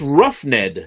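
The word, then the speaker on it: roughed: it wrong oh no there is an H in r o u g h it's ruffed ruffed Ru silent h it's a silent h all right I got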